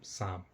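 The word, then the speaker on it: psalm: पढ़ते हैं साम लेकिन एक्चुअल में इसकी मीनिंग स्पेलिंग है पी एस ए एल एम साम ठीक है तो इस तरीके से दोस्तों हमने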